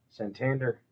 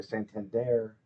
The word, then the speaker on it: Santander: stud for the Dodgers Santander actually Santander is how they were pronouncing it during the WBC always willing to learn